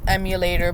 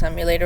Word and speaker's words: EmuLator: It's basically emulator but with the e m and u pronounced like the emu as you can see in the background of my app.